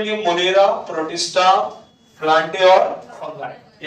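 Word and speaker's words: fungi: Kingdom फंगाई। फंगी नहीं पढ़ते इसको, फंगाई पढ़ो।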